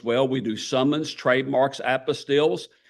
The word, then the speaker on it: apostille: We do summons, trademarks, apostilles. Apostilles are not like Matthew, Mark, Luke, and John, okay? It sounds different, it's spelled different.